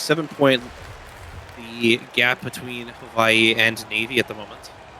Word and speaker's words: Hawaii: to that no oh does it sound like he replaced the W with the v-sing Hawaii I I did because that's also how it's supposed to be pronounced oh I learned something